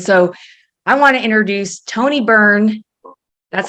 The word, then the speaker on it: Tony Byrne: And so I want to introduce Tony Byrne. That's how you pronounce it, correct, Tony?